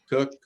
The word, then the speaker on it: Koch: award to Bob Koch, I think is how his last name is pronounced. He's retiring. Cook. Cook, yes, thank you. It was one of 3 different ways of pronouncing it.